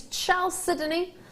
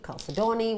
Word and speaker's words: Chalcedony: Chalcedony is how I pronounce it, how I've learned to pronounce it. You can pronounce it however you wish. Don't worry. My producers even just said I can't pronounce it. However you wish to say it. Chalcedony, Chalcedony, whatever you want to say. I call it Chalcedony because it makes sense to me.